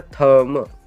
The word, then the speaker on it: thumb: Silent होता है, मतलब ना के बराबर, इसको प्रोनाउंस हम करते ही नहीं है, इसीलिए यहाँ पे क्या होगा? थम।